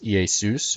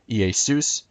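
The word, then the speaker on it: Ιησούς: Z s completely different when you compare it in Greek Jesus ei Seuss or in English characters but the Greek word ei Seuss and the name Zeus in Greek zephs completely different this is a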